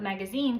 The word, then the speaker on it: magazine: long I sound, but magazine comes from Arabic, meaning a storehouse. It then passed through Italian and French, but the pronunciation kept with the French form in.